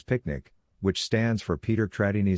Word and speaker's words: PQNK: PQNK to be pronounced as picnic which stands for Peter Trini Zam cash outari and means the regenerative and sustainable pristine organic farming system.